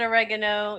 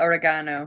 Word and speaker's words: oregano: I thought it was oregano. I've been pronouncing that word wrong my entire life. I could be pronouncing it wrong because I'm French in real life. I don't know. Yeah. I pronounce it oregano. I'm assuming you can pronounce it either way. We in Europe call it oregano because oregano.